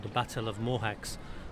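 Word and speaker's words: Mohács: called the Battle of mohax pronounced mocha by the hungarians and it was a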